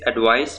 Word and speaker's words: advice: इस advice में ये C की जगह S pronounce होगा तो ये होगा advice, और इस